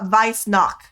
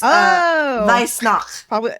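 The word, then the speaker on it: Weihnacht: So, in German it's knock. It's uh vice knock. W sound like V and then that's knock. So it's vice knock.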